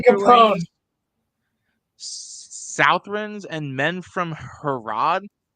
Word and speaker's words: Harad: Southrons and men from Harad. How do I say that, Roland? Harad. You said it correctly, Harad. Okay. Because they're called the Haradrim, so they're Harad.